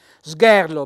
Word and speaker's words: sgherro: cioppeti è la varicella sgherro Beh Accento sulla e però accento fonico aperto è lo zoppo la